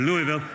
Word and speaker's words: Louisville: The population of Louisville, Kentucky, did I say it right? Louisville is what I was calling it before I got here. Louisville.